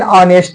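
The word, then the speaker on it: honest: अ एक ईमानदार आदमी है एन ऑनेस्ट मैन। एन ऑनेस्ट मैन देखिए एच से स्टार्ट है। एच से स्टार्ट होने के बावजूद भी साउंड ऑनेस्ट आ रहा है।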